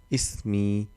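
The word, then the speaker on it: اسمي: Ismi. Because Hamzatul Wasl, when there is no words, and it becomes e, sound of a.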